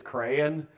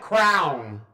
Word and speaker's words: crayon: The only alternate pronunciation that I'm not going to beat you up over is crayon, because it works technically, phonetically. But when somebody calls it crown, we go fight because that is a totally different thing. It's something you put on your head.